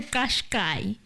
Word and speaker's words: Qashqai: Listen, Nissan Kashkai. Kashkai Nissan China. Here are many more videos on how to pronounce all. That sounds like a Chinese manashkai. In South Africa, it's a Qashqai.